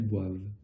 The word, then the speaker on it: boivent: Et là, on retrouve par contre ce ENT, comme d'habitude, qu'on ne prononce pas. Elles boivent.